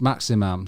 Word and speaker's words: Maximin: I mean, I've heard it pronounced Maximum, so you might have to change that slightly.